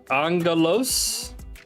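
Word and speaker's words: ἄγγελος: one so this is angalo so the double gamma there which is the two wide looking things the double gamma the first gamma becomes an end sound and the alpha has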